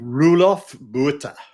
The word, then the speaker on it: Roelof Botha: How do you pronounce his name, Keith? Roelof Botha. Roelof Botha, who says venture is not an asset class.